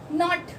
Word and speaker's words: knot: नॉट, नॉट नहीं वाला नॉट नहीं है, वो KNOT है, गांठ, गठान लगाते हैं अपन, गांठ, नॉट वो है, के साइलेंट होता है।